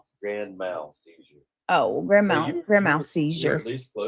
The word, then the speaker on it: grand mal: Lee Zimmerman says it's pronounced like grand m a w l, mal.